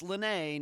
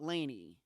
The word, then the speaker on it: Laynee: Laynee Westbrook, yep, that's Lenee, not Laynee, was pretty much your average American girl growing up in the Northwest United States.